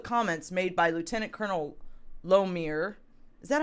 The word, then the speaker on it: Lohmeyer: This decision was based on public comments made by Lieutenant Colonel Lomer. Is that how you pronounce it? Lomeyer.